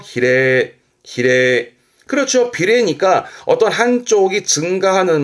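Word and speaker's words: 比例: 발음 그래서 히레.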